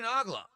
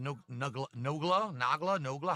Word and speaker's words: Nogla: Well, thank you, Nagla. It's pronounced Nogla. How do you pronounce it? Is it Nogla?